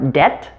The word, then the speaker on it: debt: all the previous ones there are three common words where the b is silent before a t and they are debt doubt and subtle and